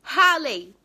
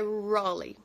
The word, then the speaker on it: Raleigh: Aí eu falei, Halley, que era o que tava escrito no papel, Halley. Só que não é assim que pronuncia, é Raleigh, Raleigh, Raigh, acho que é isso, Raleigh.